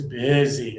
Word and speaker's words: busy: So for this one, usually the the single letter I indicates that I sound. So a lot of students say nique ezy. No. Nick is busy.